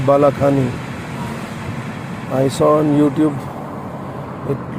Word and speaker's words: Balaxani: It is pronounced as Balaxani.